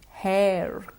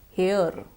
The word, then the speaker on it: hair: the next word hair hair again it should not be pronounced here it's not here here would be H e-r e-r s hair once more everybody hair